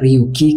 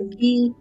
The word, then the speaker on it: Ryuki: Mbak Ate panggilnya Ryuki, Kak. Soalnya panggilannya bukan Ruki. Iya, soalnya panggilannya bukan Atelier katanya. Atelie. Atelier tapi bacanya Ryuki, Kak.